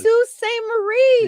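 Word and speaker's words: Sault Ste. Marie: Lake Superior State University in uh uh uh Sous Staint Marie, Michigan, a large paper snowman is burned to celebrate the end of winter. So that's what the snowman burning is. Sue St. Marie.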